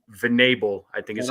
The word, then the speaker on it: Venable: socks just hired uh Rangers coach will V vanable I think is how you pronounce his last name I I okay Venable yeah good for them I mean they got